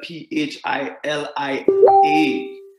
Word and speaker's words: Philia: But we understand that Philia Love, and it is spelled P-H-I-L-I-A, Philia Love, amen, pronounced with an F sound, right?